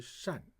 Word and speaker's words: 掸: And this one has a second pronunciation called 善.